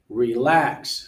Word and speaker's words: relax: Relax, second syllable.